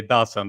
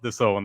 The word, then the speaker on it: DAZN: within the zone, or aka Dazn, that I thought that it was called for a year, DAZN basically, and but it's pronounced the zone, and you were the